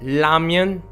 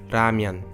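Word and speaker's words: 라면: lamian means instant noodle it is not lamian nor ramen but ramyun from this time on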